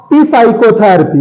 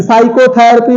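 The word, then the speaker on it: psychotherapy: next word is साइकोथेरेपी इट्स नॉट पी साइकोथेरेपी प साइकोथेरेपी नहीं है ये ये साइकोथेरेपी है एस पी एस वा सी एच ओ टी एच ई आर ए प वाई साइकोथेरेपी प साइलेंट साइकोलॉजी मेनी टाइम्स इ दिस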